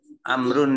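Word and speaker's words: عمرو: maka dibacanya Amr ingat kalau ada Wow dibacanya Amr ketika roppak dan Jerry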